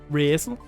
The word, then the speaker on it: Resil: Resil. That's kind of how you say it in Danish.